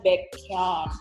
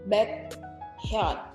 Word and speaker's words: Baekhyun: baekhyun.